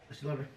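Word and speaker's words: Estée Lauder: How to pronounce it? Yep, Estee Lauder.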